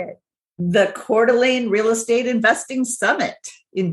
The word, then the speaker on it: Coeur d'Alene: as the upcoming host of the first annual Quarter Lane how do you say it you say it the Coeur d'Alene real estate investing Summit in beautiful Coeur d'Alene